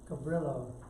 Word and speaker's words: Cabrillo: be our module no Cabrillo except it's pronounced over the Brio is in the town